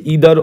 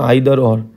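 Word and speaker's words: either: Not only but also, আর কি আছে, ইদার অর বা আইদার অর, আর হচ্ছে কি নাইদার নর বা নিদার নর, ঠিক আছে, যে যেভাবে তোমরা উচ্চারণ করো সেটা।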